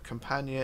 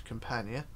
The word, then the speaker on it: Campania: is the RMS companion it depends how you want to pronounce this could be Campania Campania it's up to you how you want to interpret it I've just gone with what the pronunciation is online so there we go and what are the people pronounce it as so Campania is what I'm going with and that's what I tend to keep it as but yeah if you're